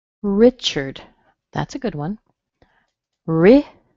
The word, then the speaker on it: Richard: Richard. Richard. Notice the A in here sounds like a schwa. Richard. It's connected with an R, but it has a schwa in there.